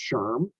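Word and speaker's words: SHRM: this is here's their acronym and it's generally pronounced Sherm uh people pronounce it that way but we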